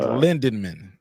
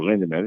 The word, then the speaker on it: Lindemann: Or is he just It's one of Barry the Lindenman. Barry Lindenman. Oh, Lindemann. He said Lindemann.